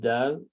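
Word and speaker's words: دال: So dal sounds like da, and dal sound like the.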